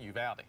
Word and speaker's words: Uvalde: Looks like Uvalde, but the locals pronounce it Uvalde. Uvalde. Uvalde. Uvalde. You gotta have the real long A.